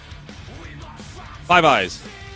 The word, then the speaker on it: Five Eyes: Five Eyes. You just pronounce it Five Eyes is what I say. Instead of I.